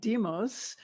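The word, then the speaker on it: Deimos: has two moons uh we pronounce that deos deos kind of like the word demon Phobos and deos Fe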